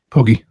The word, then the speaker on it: Poke: Darren, how's it pronounced again? Pokey. Pokey.